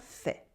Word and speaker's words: fait: We have bien with the nasal sound un, bien, bien, bien, bien, and fait with the ai that sounds like a e sound and the silent t at the end.